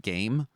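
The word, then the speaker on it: G'AIM: Yes, we received an email from a company that I believe it is pronounced Game, but they have spelled it G''AIM, aim like the gun, ''E.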